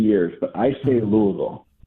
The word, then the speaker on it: Louisville: where are you calling from I'm calling from Louisville Kentucky Louisville Kentucky well welcome to the program